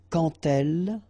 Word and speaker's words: quand elle: So like that, quand elle. All right, same rule here. Remember, when you will have this D, you will phonetically pronounce it like T.